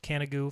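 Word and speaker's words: Canigou: you to do is look up canna goo it's actually CA ni g o you pronounced can't go from a loose france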